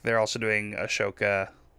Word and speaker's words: Ahsoka: like they're also doing ahoka or however it's pronounced Ahsoka Ahsoka yeah they're doing Ahsoka